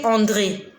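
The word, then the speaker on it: Andrée: Et parmi ces 2 prénoms, elle s'appelle André. André, A-N-D-R, E accent aigu, E muet. André.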